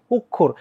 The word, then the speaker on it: অক্ষর: না কিন্তু শব্দটা কি অক্ষর ও কেন হইলো কারণ অ এর পরে একটা খিও আছে এই খিয় থাকার কারণে অ এর উচ্চারণটা সংবৃত হয়ে গেছে আর খিও যেহেতু মাঝে আছে খিও যেহেতু মাঝে আছে তাই এটার উচ্চারণটা কার মত হইছে কয় খ এর মত হইছে কয় খ এর